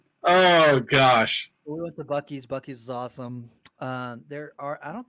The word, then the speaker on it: Buc-ee's: We went to I'll say it right, Buc-ee's.